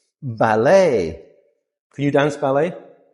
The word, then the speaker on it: ballet: It's not ballet because again we're still in French words. E is a sound. So, this word is ballet.